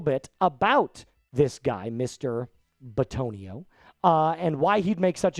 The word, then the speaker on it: Bitonio: His name is Joel Bitonio. I almost said Benito.